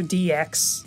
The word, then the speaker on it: DX: Today we're playing Sonic Adventure Dick. That's not how that's pronounced. Sonic Adventure Dicks. That's the same thing said before. Okay, fine. Sonic Adventure DX.